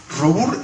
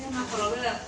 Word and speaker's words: Robur: Yo tengo acá mi novia que se porta en francés, me puede corregir, es Robur, está bien pronunciado. Robert, bueno, Robert, vamos a decir Robur total está escrito.